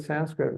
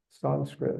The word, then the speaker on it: Sanskrit: I tell people, you know, my Sanskrit pronunciation is pretty good, but I pronounce the word Sanskrit wrong because it's Sanskrit. It's not Sanskrit. Sanskrit is the American.